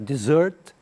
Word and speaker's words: dessert: Se você tirar um S aqui, fica desert, parecido também. Desert é deserto, que é a palavra cognata nossa do deserto, desert. E a palavra dessert, que é pronunciar dessert, que é a sobremesa.